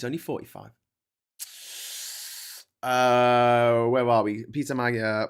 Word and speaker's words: Péter Magyar: Hey, Péter, and then the E as in bed, the R is slightly rolled.